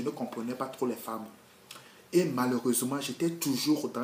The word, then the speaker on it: femme: J'ai l'habitude de dire que la femme s'écrit F-E-M-M-E. Mais ça se lit femme.